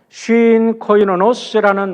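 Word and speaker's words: συγκοινωνός: 동역자라는 말은요, 쉰 코이노노스라는 말이에요. 쉰 코이노노스라고 발음을 하지만 이 앞에 있는 쉰이라는 것은 sin이라고 발음이 영어로 하면 할 수 있어요. synergy 할 때 여러분 우리가 함께라는 소리예요.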